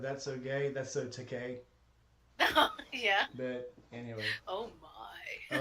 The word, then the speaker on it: Takei: It's George Takei because I'm gay. George Takei because I'm gay.